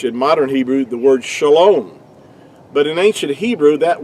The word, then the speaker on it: shalom: It's pronounced really to be more accurately would be shalom.